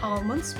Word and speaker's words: almond: Would you like some almonds with your drink? Almond in the UK versus almond in the US. listen for that L.